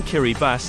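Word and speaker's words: Kiribati: the east the name Kiri bass is the local pronunciation of the word Gilberts which comes from the country's main island the Gilbert Islands Kiri bass gained independence from the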